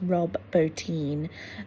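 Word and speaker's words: Bottin: I am now realizing that the surname is pronounced Bin. So it's Rob Bin.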